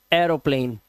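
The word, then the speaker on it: aeroplane: अब देखिए अगर ए ई के बाद आपको आर दिखाई दे जाए तो उच्चारण क्या हो जाएगा? ए आ हो जाएगा।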